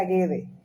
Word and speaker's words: Guedes: que des un apellido realmente no se pronunciaría que se pronuncia guede y hay dos formas